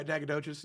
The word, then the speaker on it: Nacogdoches: So he had this little oil claim in Nacogdoches. Is that how you pronounce that? Yeah, Nacogdoches.